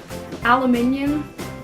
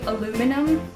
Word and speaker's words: aluminium: spelling mistake or something another one is um aluminium i know americans say aluminum but we add an extra eye so you say it aluminium i call it a